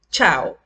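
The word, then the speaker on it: ciao: Ejemplo, chao. Se pronuncia como si estuviésemos pronunciando en español la C con la H.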